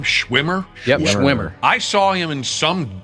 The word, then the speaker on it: Schwimmer: Yep, Schwimmer.